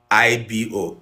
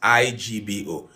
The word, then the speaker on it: Igbo: But please do not write the word IBO again. It is IGBO. Igbo, Igbo, Igbo, Igbo. If you get confused, pronounce it and spell it in your head.